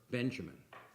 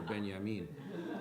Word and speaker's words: Benjamin: like to say that the way to pronounce the author of the task of the translator is Walter Benjamin, as opposed to Walter Benjamin. And I like to emphasize the J is the kind of Americanization, but of Benjamin.